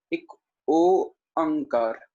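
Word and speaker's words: ੴ: देखिए, असल वर्ड है एक ओंकार। ठीक है, मैं तोड़ के बोल रहा हूं, एक ओंकार। सही से देख लीजिएगा, पहले सबसे पहले ओ उच्चारण करना है, ओ अंग कार।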